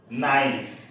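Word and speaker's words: know: ইজিই নলিস তো এখানে কে এন একসাথে সংযুক্ত হওয়ার কারণে এখানে আমরা দন্তন নয় প্রতি উচ্চারণ করেছি অর্থাৎ কে বাদ দিয়ে এন এর উচ্চারণ করেছি নো নাইফ নিড নলেজ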